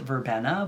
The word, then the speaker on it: verbena: it's an upright variety I love verbina some people also pronounce it verbena but I don't know